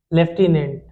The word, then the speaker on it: lieutenant: that the lieutenant governor, लेफ्टिनेंट का spelling होता है LIEUTENANT, लेफ्टिनेंट, इसको ल्यूटिनेंट लिखते हैं, लेफ्टिनेंट पढ़ते हैं।